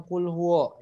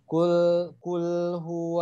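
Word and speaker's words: قُلْ هُوَ: adalah di huruf wownya jangan kulwo ya tapi cool Juan kulhu allohu luwoh begitu terus di huruf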